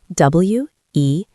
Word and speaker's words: whether: It has a W-H at the start, but the pronunciation is exactly the same.